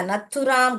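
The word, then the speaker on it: नाथूराम: की गई वो हत्या नथुराम गोड से नथुराम ऐसे पढ़िए ये स्पेलिंग न पढ़िए थू पढ़िए और राम पढ़िए नथु राम गोड से गॉड और से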